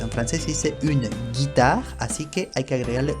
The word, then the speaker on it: guitare: Ahora, si delante de esa E, I o Y queremos que se pronuncie como la G española, que les recuerdo es G, entonces hay que agregarle una U. Veamos un ejemplo para que lo entiendan bien. Une guitare, una guitarra. Une guitare, así se pronuncia en francés. Si no estuviera esa U, aquí entre la G y la I, se diría une guitare. Une guitare, lo cual es incorrecto.